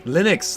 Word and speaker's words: Linux: Linux, that's how you say it.